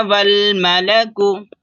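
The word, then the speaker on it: والملك: व जा रबुक का वल मलकु वल वाव को लाम में मिलाएंगे ये अलिफ साइलेंट है व मलकु सफ सफा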